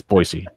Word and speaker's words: Boise: and oh sorry Boise I gotta say it right for the people in Idaho they're going to kill us if we do don't say it right it's Boise Boise State and you know